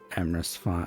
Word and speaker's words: Emrys: Let us raid Emrys Rhymes with Abyss, because obviously we need to do that.